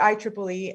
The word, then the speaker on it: IEEE: So for those of you who are not familiar with the IEEE, and yes, it is pronounced the IEEE, it's the Institute for Electronic and Electrical Engineers.